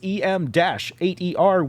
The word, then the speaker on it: Em8er: or mater or the various ways that people are pronounced it but it's em-8er which is the planetary